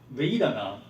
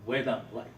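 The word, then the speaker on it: vedanā: So Vedana is in English, it's not entirely wrong, but really it's Vedana, like you pronounce we.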